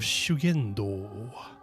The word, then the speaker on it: Shugendo: Usually this would be pronounced as shu with a long u, but it's just shu. And then this would be ken, but it's gen. And then ja, sha.